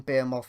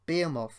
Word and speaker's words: behemoth: then you'll have seen bear morph in action and being off or behemoth depending how you wish to pronounce it that both spelt the